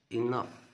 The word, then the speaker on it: enough: it change change it enough. خلي بالك هنا ان الجي والاتش هتنطق اف enough دي هتنطق زي الايه زي حرف الاف كده بالظبط نوضحها شويه زي الاف.